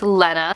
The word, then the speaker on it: Lena: this was pronounced but this is actually pronounced Lenna so once again I